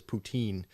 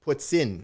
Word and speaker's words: poutine: that's actually a note the proper pronunciation of what you keep referring to as poutine is what's in Putin puts in no yeah no it